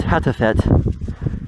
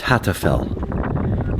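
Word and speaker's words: Hattfell: It's Mount Hatfett. And that is the end of the Black Desert. The correct pronunciation is Hatfell.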